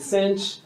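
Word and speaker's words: sinh: I call them cosh and cinch.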